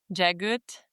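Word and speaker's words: Jaghut: Jagut, which is apparently the pronunciation.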